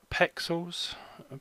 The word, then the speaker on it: Pexels: Now the image is on Pexels, that's how you pronounce that.